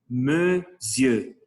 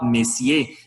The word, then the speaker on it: monsieur: le mot monsieur monsieur il y à des personnes qui prononce monsieur mais non c'est pas mon fiancé me vieux monsieur il y a les personnes qui prononce parfois messier ne s'est pas méfié c'est monsieur monsieur là et il y